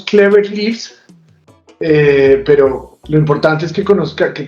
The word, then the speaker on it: Clever Leaves: pronunciando bien me disculpara no no no lo pronunciamos cléveris pero lo importante es que conozca que conozcan